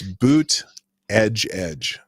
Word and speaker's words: Buttigieg: And, no, it's Buttigieg. That's how you're supposed to pronounce it, I guess. Buttigieg.